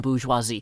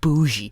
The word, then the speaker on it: bourgeoisie: and I would say thank you thank you so much for actually pronounce it every syllable in Boosh huazi I have found so many lazy people lazy people lazy people just saying boogy boogy it's the most terrible terrible mangling of French and English combined that